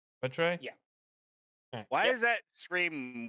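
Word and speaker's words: Muetre: the uh Autumn phase name is spelled m u e t r e mut Trey yeah why is that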